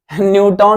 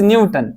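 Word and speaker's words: Newton: Means position change होगी, position, न्यूटन नहीं है, इट इज न्यूटन, ठीक है, न्यूटन। आप न्यूटन भी पढ़ सकते हैं, बट प्रोनाउंसिएशन इसकी है न्यूटन।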